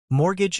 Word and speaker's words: mortgage: Mortgage is/mr.d/. And remember that t is silent.